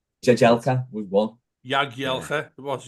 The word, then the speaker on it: Jagielka: Jagielka.